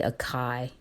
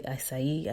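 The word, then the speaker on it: açaí: Some people say acai, but it's really acai, I believe, the pronunciation, berries, and it gives you some information about that.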